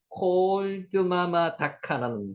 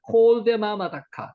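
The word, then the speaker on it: קול דממה דקה: 요 콜드를 요게 이게 묵음으로 읽었는데 이게 묵음이 아니고요. 콜데마마 다카. 요렇게 읽는 게 정확한 표현입니다. 콜드보다는요.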